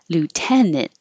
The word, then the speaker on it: lieutenant: my accent lieutenant Lieutenant you're saying in at the end the A and T sounds like in or on but you don't release the T you just go to the n and T position and hold it there lieutenant murderer this has